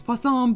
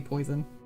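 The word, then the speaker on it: poisson: They call it Oh, it's spelled poison, but it's called po." Okay, it's pon, but it's it's the same thing. Yeah, it's very close to being spelled like poison. Yeah, when I was taking French, I saw that and I it was really hard for me to not say poison.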